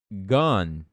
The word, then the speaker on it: gone: Então, have gone. Gone. Você vai falar o som do N. O som do N é n. Gone. Gone. Gone. Não gone, tá bom? Porque senão ninguém vai te entender.